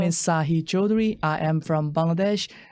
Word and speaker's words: Sahi: I have Sahi here. Did I say it right? Yes.